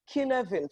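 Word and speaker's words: Cynefin: they called it the kin event framework right could have been expelled CY and EFI n it is a Welsh word so it's not pronounced like English so the killer in framework categorizes problems into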